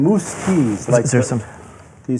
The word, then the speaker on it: Muzquiz: here's how you pronounce his name, Muzquiz.